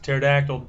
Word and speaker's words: pterodactyl: P as well cuz pterodactyl does start with a silent p kind of like phone